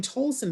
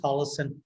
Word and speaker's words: Tolleson: t i s t have i been pronouncing your last name wrong all these years i've been saying tolson but it's tolleson i i beg your